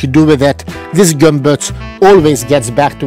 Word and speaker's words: Gömböc: Gömböc. Yes, that's how we pronounce it. Gömböc.